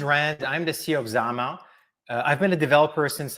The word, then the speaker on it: Zama: Is it how you say it, Zama? Zama, yes.